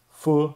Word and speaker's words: Feu: To pronounce it correctly, say the word foot without the T. Feu is actually French for fire and ties nicely with the